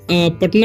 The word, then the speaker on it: पटना: पाटना हो सकता था लेकिन पाटना क्यों नहीं हुआ क्योंकि देखिए जब भी हम प पढ़ रहे हैं तो उसके साथ अ भी पढ़ रहे हैं इसलिए एक मतलब अ का उच्चारण ए हो जाता है ठीक है और यहां पर आ नहीं होता उच्चारण उसका ठीक है तो इसलिए यहां पर पटना पड़ते हैं हम यहां पर ठीक